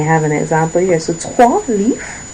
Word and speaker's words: trois: And in this case, 3 is trois. Trois. Now, yes, I know there's an R there, but trois. In this case, it is trois.